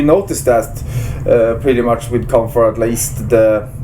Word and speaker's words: Kampfar: Hey, you guys got to check out Kampfar. Am I pronouncing that right? Yeah, that's really good. Yeah, you're pronouncing it right, and that's really good